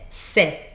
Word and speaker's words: ces: C-E-S. C'est. Open sound and no final S pronounced.